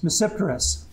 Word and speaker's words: Tmesipteris: language and it's reciprocity the t is not pronounced in english it starts with a t reciprous and i'll show